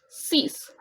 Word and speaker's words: six: pressed as so sank for six we write it as six in the English language but the pronunciation is cease not six so here you can